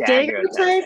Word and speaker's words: daguerreotypes: I don't know how to say this word, daguerreotypes. Yep, daguerreotypes.